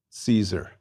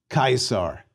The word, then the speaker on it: Caesar: And we pronounce the C in Caesar like a K, Caesar.